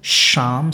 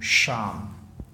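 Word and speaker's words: psalm: Because he is the teacher of sham singing. P-S-A-L-M, sham. There is a very famous poem, Sham of Life. One must read that. Sham. P is silent here.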